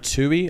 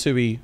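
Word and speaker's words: Tuohy: So he got spotted by this white lady, Leanne Tui, I think is how you pronounce it. Tui, yep.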